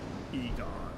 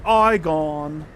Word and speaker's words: Egon: to go this way Egon huh it's pronounced ion oh well Egon oh